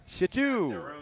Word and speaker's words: Shitu: Emphasis on the second syllable there. Shitu.